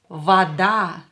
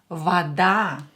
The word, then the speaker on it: вода: Вода. Давайте напишем. Let's write it down. And of course, it's water. Вода. Вода. Here A is stressed, so this O will be pronounced as A because it's not stressed.